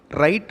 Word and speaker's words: write: WRITE, ரைட் அப்படின்னு வாசிக்கணும், W pronounce பண்ண தேவையில்லை.